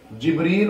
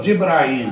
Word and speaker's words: جبريل: مرحبا جبريل عليه السلام جبريل اور جبرائيل both pronunciations are correct ميكائيل عليه السلام إزرافيل